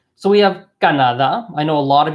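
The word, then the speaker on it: Canadá: we would be accent the emphasize part of the word is the last syllable I'll highlight that in green so you guys can see that so the last syllable highlighted in green Canada right it's not Canada its Kannada okay chief Canada we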